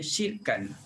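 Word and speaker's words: شركاء: Jadi kalimah ini uh, juga tidak dibaca dengan uh, hamzah, dan satu lagi dia barisnya bertukar, bacanya syirkan. Ya, syirkan.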